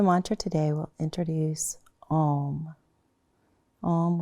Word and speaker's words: Om: Om was traditionally spelled or pronounced A-U-M.